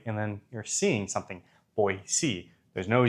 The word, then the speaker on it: Boise: capital of Idaho, and it's Boyisey, not boy. Boy, boy, like boy. And then you're seeing something. Boyisey.